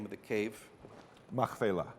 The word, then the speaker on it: Machpelah: Machpelah. Machpelah.